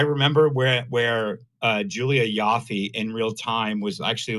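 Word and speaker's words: Ioffe: she would start tweeting it's it's pronounced Yafy about that.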